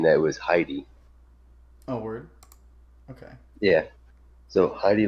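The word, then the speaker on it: Hedy: let's do open link so originally I was pronouncing her name heady is a chi dy by my wife correcting me and saying that was Heidi oh okay yeah so Heidi Lamar um so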